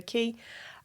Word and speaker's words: ki: Depending on where you are. Some people say Kai, some people say ki. And it's basically, so the word ki, like we say, explaining then, it's the Japanese word for energy.